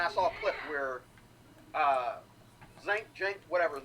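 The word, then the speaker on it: Cenk: And I saw a clip where Jink, whatever his name is. Okay? It's not pronounced the way it's spelled. It's spelled Sink, but that's not what it is.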